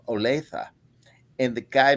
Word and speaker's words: Olathe: Kansas City, right outside of Kansas City, called Olathe, and the guy mispronounced Olathe throughout, and I would have to go, come on now, Olathe, and he would go Olathi, Othello.